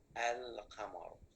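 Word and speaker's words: القمر: Al-qamaru. Did I pronounce this lam, everybody, or not? Yes, I pronounced.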